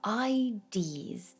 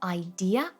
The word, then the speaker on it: idea: Here I heard Thomas talk about our ideas. Of our ideas in terms of science. Careful here. We have one word here. It should be pronounced as either idea or idea, right?